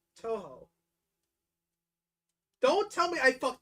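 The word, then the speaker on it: Touhou: I'm trying to figure out how else you would pronounce that. Yeah, I don't know. You got it correct. It's Toho.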